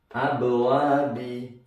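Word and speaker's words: أبواب: Contoh yang ba misalnya abwabi, ketika dia berhenti atau dibaca wakaf atau di akhir ayat membacanya jadi abwab, bacanya mantul tebal, mantul besar, abwab. Nah ini qalqalah sugro, yang ini qalqalah kubro, abwab misalnya.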